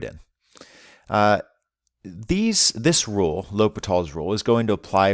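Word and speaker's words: L'Hôpital: is titled l'hopital's rule i know it looks like it's l hospital's rule but it's pronounced uh l'hopital's rule uh and this is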